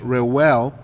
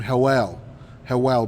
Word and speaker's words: Reuel: His name is, in English, Reuel, but you would say his name Hewell, because the R is substituted by H.